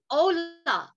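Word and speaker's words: Olah: And so the first offering is the Ola, O-L-A-H, if you want to just spell it in English.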